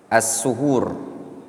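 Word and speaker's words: السُّحور: Lafaz assahur boleh dengan menfat sin asahur boleh juga mendammannya. Kalau didamah gimana bacanya? Asuhur.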